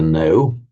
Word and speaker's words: know: As I like to say when explaining the root jñā, it is to know, which is how we write it in English. The K, the pronunciation of the K is dropped.